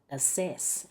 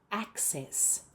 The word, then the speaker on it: access: There should be a C sound and double check you're putting the stress on the right syllable. It's the first syllable. Many many non-native speakers pronounce that word as assess.